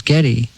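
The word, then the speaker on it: Geddy: And uh you know, when I was young, I was born Gary, but when she pronounced it, everyone thought it was Getty.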